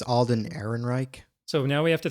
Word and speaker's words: Alden Ehrenreich: How do you pronounce his name? I think it's Alden Ehrenreich. So now we have to think of Alden Ehrenreich as Han Solo.